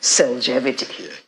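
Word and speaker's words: Cellgevity: say supplement i think everyone has heard about selgevity did i pronounce it right yes yes tell us about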